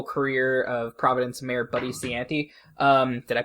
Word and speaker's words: Cianci: about the political career of Providence Mayor Buddy Cianci. Did I pronounce that right? Hope I did. Cianci, yeah, Cianci.